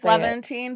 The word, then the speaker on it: Levantine: because of the silence of Shaherzide how to pronounce is it Levventine Leavant Levantine I don't know how to say it's Levventine but like that's how I read it.